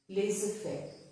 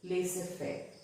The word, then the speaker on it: laissez-faire: the common ones are laissez-faire, rendezvous. So here in these two words, the Z is silent. It is not laissez-faire, but it's laissez-faire.